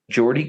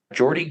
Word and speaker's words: Geordie: pronounce his first name it's spelled like Georgie but with a d Jordy GP with the new sound Jordy greep is an English